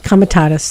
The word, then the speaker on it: Comitatus: In about 140 years ago, there was a law passed, and I hope I pronounce this correctly, the Posse Comitatus Act. Comitatus, thank you.